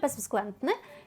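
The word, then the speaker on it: bezwzględny: Оце, напевно, найважче, що є в цьому слові - це поєднання р, так, і енсового. Безвзглендне. Безвзглендни. Безвзглентни. Можемо прочитати швидше. Безвзглентни. І тоді трішечки оця з воно трішки робиться більше плячішим. Так, трішки оглушується. Безвзглентне, але все рівно залишається з, не оглушуємо його зовсім.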